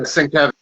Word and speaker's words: Sienkiewicz: Yeah, Sienkiewicz. Thank you. You pronounced it much.